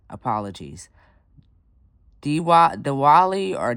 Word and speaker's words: Diwali: Next up, we have and again pronunciation apologies. Diwa Diwali or Diwali.